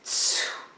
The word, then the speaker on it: tsu: The third one is tsu. That's how it's pronounced. It's sort of like TSU. Tsu. It's a little hard sound at the beginning.